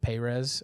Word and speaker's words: Perez: I'm glad you said Perez, because I think in Bible college there's a very pretentious pronunciation of Perez, and I'm like, let's not do that. So I'm glad you went with Perez.